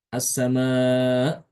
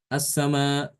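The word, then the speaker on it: السماء: Jadi dibaca ee assama menghilangkan hamzah ya. Jadi hamzahnya dibaca dihilangkan.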